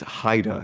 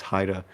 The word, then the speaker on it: Haida: uh I made a mispronounce it it's Haida it's not ha it's Haida um and art he